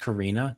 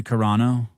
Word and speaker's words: Carano: Corano, is her last name pronounced Karina? Gina Karina. Gina Carano.